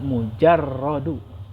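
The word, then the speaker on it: مجرد: Nah, ini dibacanya mujarradu. Jadi mungkin kebalikan harokat, harusnya mimnya di doma, jimnya di fathah.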